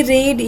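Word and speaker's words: read: लगेगा हाउ डिड शी रीड yesterday अभी यहां पर पास्ट है तो आंसर भी पास्ट में आएगा शी रेड क्विकली स्पेलिंग यहां पर सेम होता है प्रोनंसिएशन डिफरेंट होता है डिड ही स्पीक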